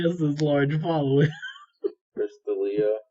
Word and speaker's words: D'Elia: Chris D'Elia. That's how you say his name, right? Yeah, D'Elia. Yeah.